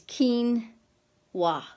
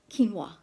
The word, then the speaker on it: quinoa: today's episode get out how to pronounce quinoa it's quinoa quinoa anyway it's a superfood